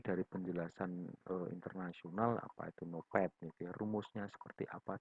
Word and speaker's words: NOPAT: Tulisannya NOPAT ya, tapi bacanya biasanya NOPAT gitu ya.